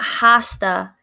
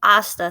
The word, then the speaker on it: hasta: see you tomorrow um notice that it's not hasta it's asta so that h is silent um la cortesia is